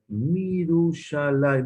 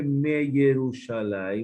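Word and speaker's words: מִירוּשָׁלַיִם: Mirushalai, no se dice me Yerushalai, de Yerushalai. Se le quita el Sheva a la Yod y se dice Mirushalai.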